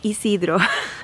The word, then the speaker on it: Isidro: his last name was Ysidro anyway that is the name of the top Ysidro that's how you pronounce it in Spanish and this is a